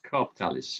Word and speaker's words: COOPTALIS: So, tell me how to pronounce this properly. COOPTALIS or COOPTALIS? COOPTALIS, yeah.